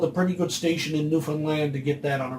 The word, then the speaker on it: Newfoundland: Or for those of you who don't even know where Newfoundland is, first off, it's pronounced Newfoundland, not Newfoundland or Newfoundland. Think it as fun. Newfoundland, yeah.